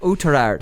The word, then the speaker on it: Oughterard: So Maheracloon versus, geez lads, Connor, here you pronounce that for me. Oughterard. Yeah. Oughterard.